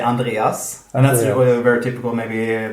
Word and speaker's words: Andreas: would be here in Sweden, I would say Andreas. And that's very typical. Maybe the name is very common in Germany. So they would pronounce it almost the same as well. Same in... Andreas.